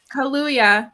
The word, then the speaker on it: Kaluuya: I can't ever pronounce his last name. Kaluuya, thank you.